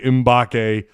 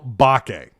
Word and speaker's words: Mbake: slip up and say imbake probably off and on throughout his career as long as he's a razorback it is samuel bakke not um the m is silent whiskey and eggs for